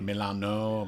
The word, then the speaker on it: Milan: Milan? Okay. Milan. Like Milano, Milan. Same like Milan, exactly how we pronounce Milan.